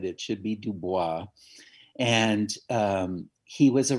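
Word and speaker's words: Du Bois: exactly how to pronounce that seems like everybody pronounces it uh w.e.b dubois but she said it should be dubois and um he was a writer in the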